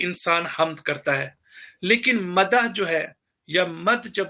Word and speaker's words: مدح: سمجھنے کی ضرورت ہے۔ ایک ہے مدح کرنا، جس کو اصل تلفظ ہے مد کرنا، جس کو ہم کہتے